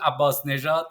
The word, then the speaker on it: Abbasnejad: you help us to understand how to properly pronounce your last name yeah yeah yeah it is Abbas nejat so yeah I have some difficulties sometimes I